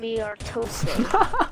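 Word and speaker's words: Muertos: It's pronounced P250. Mu-E-R-T-O-S-E. P250 Miartose.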